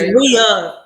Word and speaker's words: Rhea: It's Rhea. With that, get it right. Yeah, make sure you say her name right.